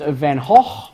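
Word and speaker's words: van Gogh: 15 minutes of fame is Andy Warhol Vincent van Hoff as it is properly pronounced he cut off part of his left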